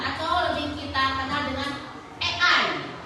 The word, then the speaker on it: AI: Nah, seperti yang yang kalian sebutkan itu adalah sebagian dari yang namanya kecerdasan artifisial atau lebih kita kenal dengan ei. Tulisannya I tapi dibacanya e ya.